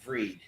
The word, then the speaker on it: Fried: years $218 million yeah it's actually pronounced freed spelled fried no I'm I'm going to say fried until he actually wins